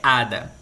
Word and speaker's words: hada: Que em espanhol é hada. O que acontece? Também seria feminino usando lá. Porém, nesse caso, como a sílaba forte está no HA, né?